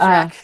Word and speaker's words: Rack: Her name is Rack. Thank you, Rack. I knew it was one syllable.